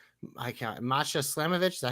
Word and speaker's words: Masha Slamovic: JC Jane versus I can't Masha Slamovic.